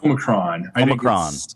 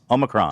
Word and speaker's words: Omicron: I would say, first of all, that saying it right, it's Omicron. Omicron.